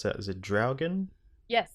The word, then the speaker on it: Draugen: And the next game that you played there, how do you pronounce that? Is it Draugen? Yes, it's Draugen?